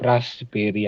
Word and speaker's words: raspberry: dibaca Nah kalau ini ini adalah raspberry tapi raspberry cukup beras Berry aja jadi sampai es terus langsung Berry nah ini kalau menurut